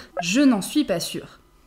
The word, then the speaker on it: sûre: On ajoute un « e » à « sûre » quand on est féminine. Je ne suis pas sûre. Ça ne change pas la prononciation, mais à l'écrit, il faut faire attention.